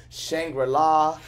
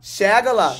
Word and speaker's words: Shangela: And I remember I wanted, you know, people have sometimes a hard time pronouncing my name. I don't know why. They call me Shangela, Shangela, Shangri-La, Shagina. Shangela.